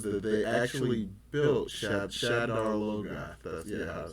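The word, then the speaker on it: Shadar Logoth: This one I can't say a whole lot about it, but the little article thing, this thing says that they actually built Shadar Loga.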